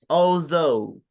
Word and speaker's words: although: Although. Okay. Se pronuncia mucho más fácil de lo que se escribe.